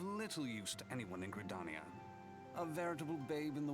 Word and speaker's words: Gridania: Yes, Gridania. Not Gridania.